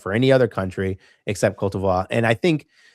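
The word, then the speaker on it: Côte d'Ivoire: the only country with Kot Divvoir that we actually have to use in an English-speaking language. We have to use the pronunciation of the native language of the country, which we don't do for any other country.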